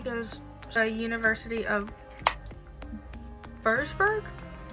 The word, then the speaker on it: Würzburg: She started a medication in 1973 for this, and then she goes to the University of Würzburg? It's spelled like this, but German, the W makes a V.